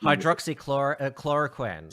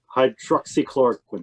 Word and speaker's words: hydroxychloroquine: i've turned to you're gonna have to help hydroxychlorochloroquine i i've heard how much chlorine hydroxychloroquine hydroxychloroquine thank you yeah um yeah so the the